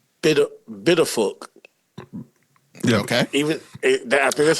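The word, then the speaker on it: Pituffik: It's spelled with a P, but I looked up how to say it, and everybody I heard saying it was saying it with like a B instead of the P, and that could be the Dutch thing about it.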